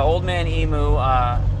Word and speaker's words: Old Man Emu: Old Man Emu, OME for short, is an Australian company, and